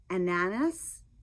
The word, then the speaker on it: Ananas: I am knitting this in lang ananas. I I don't know how to pronounce it. Ananas. bananas like bananas without the B.